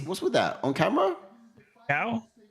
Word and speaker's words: Caio: Caio? Caio?